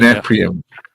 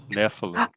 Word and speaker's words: Nephilim: The The Neprium. Say Neprium. again? The Neprium. Nephilim.